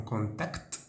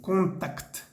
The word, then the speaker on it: contact: de rester en contact, y pronunciamos bien la C y la T al final, como excepción en el francés, porque siempre hay una excepción. Entonces ahí vamos a decir bien contact, contact, todas las letras, contact.